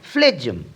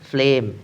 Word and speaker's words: phlegm: এখানে টি সাইলেন্ট এই শব্দটির মানে হলো শ্লেসা অনেকেই এর উচ্চারণ করে ফ্লেজম কিন্তু এটি সঠিক নয় সঠিক উচ্চারণটি হল ফ্লেম এখানে জি সাইলেন্ট এই শব্দটির উচ্চারণ কি